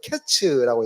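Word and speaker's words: קֵץ: 이게 카이츠 또는 캐츠라고 해서 거의 같은 발음이라서 이 여름 광줄이 보이지 캐치가 보이지 이들은 카이츠가 될 거야.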